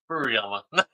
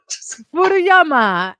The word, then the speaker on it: Furuyama: give us your last name um and pronounce it properly for the people it is aama oh or furuyama furuyama and is a fellow Island brother uh